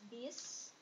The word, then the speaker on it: bus: Or bus, even though Indonesians say it as bis, they will pronounce this as bis.